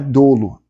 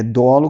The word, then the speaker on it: dolo: E o dolo, a pronúncia dele é com o o aberto. Primeiro, o aqui é como se recebesse um acento, tá? Não é dolo, é dolo que se pronuncia.